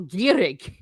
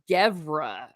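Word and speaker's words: geimhreadh: Like I always tell people gierig is winter in Cork. In Dublin, they call it Gevra.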